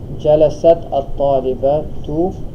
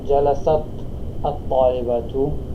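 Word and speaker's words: جَلَسَتِ الطَّالِبَةُ: To make it flow better, or to make it for the pronunciation, you're actually going to pronounce the ta as if it had kasra, okay?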